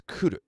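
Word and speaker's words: 来る: That kanji is pronounced ku, but every time it's conjugated, it becomes a ki.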